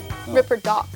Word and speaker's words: Ripperdoc: What's the difference? , British accent sounds cool. It's a difference between 'ɒ' and 'ɑ'. That's the difference? -Then isn't it Korean style? -No, no. The pronunciation of 'o' itself is different.